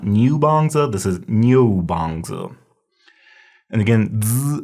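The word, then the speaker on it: niúbàngzǐ: And so that's why it turns out that this would be pronounced Nyo, and you just say it really fast. So it's Nyo. So this is not Nyobanza, this is Nyobanza.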